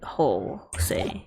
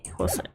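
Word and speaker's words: José: in my County Jay is this pronounced Joe Jose it's not whole say Jose Jose okay welcome to the stream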